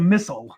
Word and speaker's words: Misol: you MISOL instead of MISOL. Well, but to tell you exactly the truth, like it's actually Korean. MISOL is how you say more like Korean.